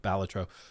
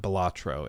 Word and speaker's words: Balatro: where the developer of batro which I learned at the game awards apparently it is batro not balatro it's you put the emphasis on the first syllable um which I didn't